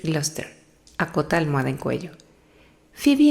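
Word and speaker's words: Gloucester: "El Glossister", responde Rodete alto. Se pronuncia así. Creo que debes decir Gluster.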